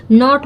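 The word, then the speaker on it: knot: के बाद अगर यन आया हो तो के वहाँ साइलेंट रहता है।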